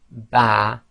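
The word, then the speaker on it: ب: when you say B your lips come together but it's the wet portion or the inner parts of your lips that actually tpe so say B and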